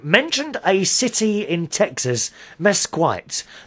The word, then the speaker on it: Mesquite: a city in Texas Mesquite the correct pronouncing is mesit thank you very much